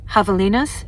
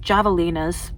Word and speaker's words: javelinas: Although with the javelinas, yes, no, they're not javelinas, although it's spelled with a J, kind of like jalapenos.